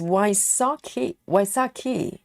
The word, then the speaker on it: Wysocki: So it's Wysocki. Oh, it's getting harder and harder. So it's not so, it's sa. Wysocki.